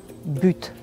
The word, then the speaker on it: but: la même chose c'est-à-dire quand vous avez un mot qui commence par une consonne ne prononcez pas le T mais si vous avez vousoul utiliser la fin d'une phrase ou vous avez une expression ou quelque chose une voyelle qui suit après le mot but vous le prononcerez il faut que j'ajoute